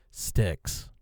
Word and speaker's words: Styx: Sticks. Styx. If you don't know how to spell it, it's not sticks as in s t i c ks. S t yx. Sticks.